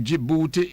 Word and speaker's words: Djibouti: And Djibouti is spelled with a D.